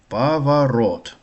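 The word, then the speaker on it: поворот: Romb pavarot pavarot pavarot Last syllable stressed.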